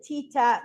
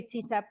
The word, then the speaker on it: TTAP: I know that Kim said TTAP. Many people say TTAP. I pronounce it TAP method.